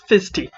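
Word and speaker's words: Fissste: letters to be f-i-s-s-s-t-e yeah that's his name fisty okay can i drag his token about that's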